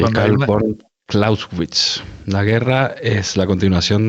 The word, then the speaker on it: Clausewitz: Karl von Clausewitz. Así se pronuncia. Von Clausewitz, muy bien.